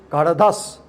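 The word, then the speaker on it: घढधष्: Then ninth is gha, dha, dha, sa. Ghadadas. Don't say gha dha dha sa. Say gadadhas. Gadadhas.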